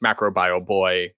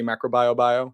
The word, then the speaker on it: Macrobioboi: So it's just macro bio boy, kind of rolls off the tongue, MBB, and kind of looks nice.